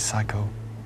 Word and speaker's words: psycho: These are all words that begin with P without pronouncing the P. They Pfennig. are words that begin with a silent P.